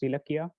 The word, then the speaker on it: Ilakkiya: I realized very recently that Ilakkiya's name is actually pronounced Ilakkiya, and Akshay has been lying to me this whole time. I'm just horrified that I've been misled in this way, and I'm sorry for mispronouncing your name this whole time.